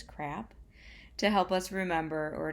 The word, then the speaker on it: CRAAP: Consider the following criteria when choosing a source, and we have an acronym CRAAP, I guess it's pronounced as crap, to help us remember or to help us qualify what makes a source credible.